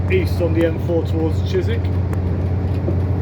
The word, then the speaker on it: Chiswick: So now we're heading east on the M4 towards Chisik. It's spelled Chiswick, but it's pronounced Chisik.